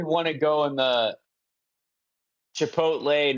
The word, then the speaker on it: Chipotle: Or sorry, Ralph, Chipolte or whatever you call it. Chipotle.